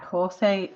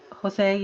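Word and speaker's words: José: everyone hear me properly Jose Jose isn't it that's spelled with the J but it's pronounced with a h hi big so everyone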